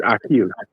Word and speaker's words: Akeel: If you're saying it correctly, it's Akeel. Akeel.